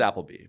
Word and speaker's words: Appleby: It's pronounced Appleby, but I'm Appleby across most of the platforms.